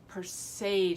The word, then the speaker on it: Perseid: Perseid, I believe is how it's pronounced.